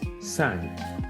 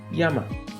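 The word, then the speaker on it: 山: this is a mountain it's sun in the Chinese reading or onion but in Japanese mountain is pronounced as Yama in man yogana this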